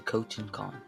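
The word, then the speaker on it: Khotun Khan: We see a little cut scene of Lord Shimura held captive and talking to Cotton Khan.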